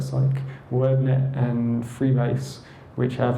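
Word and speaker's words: Cyc: There's things like Psych, you pronounce that Psych, WordNet and Freebase, which have like millions of facts, or WordNet has 200,000 plus words, Freebase has 360 million facts.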